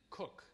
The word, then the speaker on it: Coke: on the maxim of sir edward cook even though it sounds like it should be pronounced cokes or edward cook's maxim and it's central to